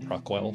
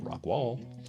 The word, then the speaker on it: Rockwall: The Bear, which is spelled Bexar, by the way, the Bear slip joint, and this one, the Rockwall, not Rockwell, Rockwall.